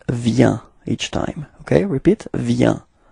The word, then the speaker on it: vient: So you've got a final T, but then you don't pronounce it.